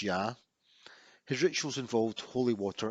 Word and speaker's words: Ea: his name was ia in acadian which is pronounced ya his rituals involved holy water and his symbol